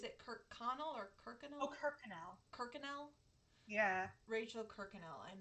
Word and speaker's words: Kirkconnell: Oh, Kirkconnell.